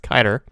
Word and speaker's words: Kiter: It's not Kidder, by the way. I was corrected that his name is pronounced Kiter.